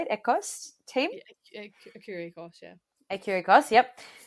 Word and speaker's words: Écurie Écosse: Écurie Écosse, yeah.